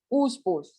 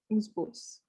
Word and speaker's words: oospores: oospores, double O, oospores.